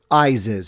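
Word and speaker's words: Iziz: make it down to is is or rather eyes is as they pronounce it the capital of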